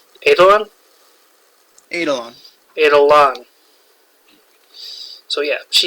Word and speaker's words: Eidolon: How do I pronounce it? Eidolon. Eidolon?